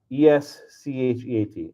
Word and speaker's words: escheat: ESCHEAT. It's like S-cheat, escheat.